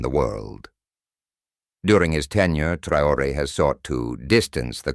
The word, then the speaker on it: Traoré: Ibrahim Trayor, French pronunciation, Ibrahim Trouore, born the 14th of